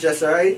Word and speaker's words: Jesarai: Yeah, the name came from my father, is my middle name, Jesarai. Right, it's pronounced Jesarai, means I am.